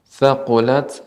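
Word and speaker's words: ثَقُلَتْ: Cuman sedikit koreksi tadi yaitu pengucapan thaqulat ya, ta yang ketika sukun maka tetap harus sifatnya adalah hams, adanya aliran udara yang tersisa.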